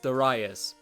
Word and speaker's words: Darius: Well, I totally confused that with Gradius because it's actually pronounced Darius. So yeah, because the Japanese spelling is actually Darayasu, not Dariusu like I claimed, so I kind of mixed that up with how Gradius is actually Gradius.